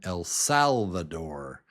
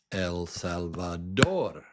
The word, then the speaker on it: El Salvador: Now, this is interesting because in English, I would say this name El Salvador, El Salvador. but the accurate way to say it is El Salvador. El Salvador. If you listen to the news or listen to Americans say this word, this country, they'll say El Salvador. El Salvador. But you know that it's El Salvador.